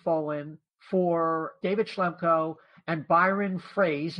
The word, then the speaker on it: Froese: for David Schlemko and Byron Froese, even though it's spelled like froze.